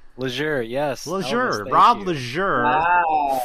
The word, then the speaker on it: Laizure: 4.5 years later, Rob Laizure. Did I say it right? Laizure, yes.